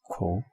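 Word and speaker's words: 口: And the pronunciation of this is ko.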